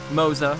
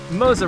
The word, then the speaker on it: Moza: to uh moza racing moza we're gonna we're gonna say it how they say it moza racing for all the